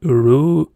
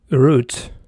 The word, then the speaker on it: Ruth: Sometimes it sounds like Uru, but sometimes they actually pronounce it like root. So let's say root, you know.